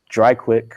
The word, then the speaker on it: DRIKWIK: We call it Dry Quick. It's spelled DRIKWIK.